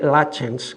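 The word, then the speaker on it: Lutyens: época, que es Edwin Lchens, un arquitecto inglés que se escribe lutens, eh, pero los ingleses, después de unos años de hablar con ellos, me he conseguido aprender por fin que se dice lachens, que para nosotros es un poco difícil.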